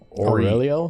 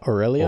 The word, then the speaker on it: Aurelia: So talk to how did he say her name? Aurelio? Or Aurelia? Yeah, Aurelia.